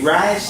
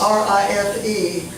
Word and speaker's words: Rife: You say Rice? R-I-F-E. Rife.